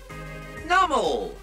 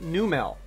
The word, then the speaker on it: Numel: Nummel. It just doesn't fit. It's a fire type. Why is Numel numb? Nummel. I know it's the correct pronunciation, but you're making the name not correlate very well, hence why I keep calling it Numel.